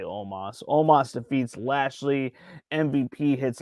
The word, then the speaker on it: Omos: no it is not no no almost or omas rather it's spelled almost but they say omas omas defeats lashley mvp